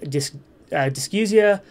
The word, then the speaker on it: dysgeusia: You might also, I have heard people pronounce this as dysgeusia. Dysgeusia is the correct pronunciation, but, you know, don't call anyone out on that.